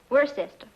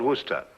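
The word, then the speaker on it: Worcester: But it's spelled W O R C E S T E R. We're sister. Oh, yes. I see. Yes. Lord Worster.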